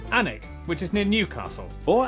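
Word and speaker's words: Alnwick: Then a quick jaunt to Gotham Got followed by a stop in Quernmore Qua before finishing up in Alwick Anig which is near Newcastle or as the people from the city itself say Newcastle.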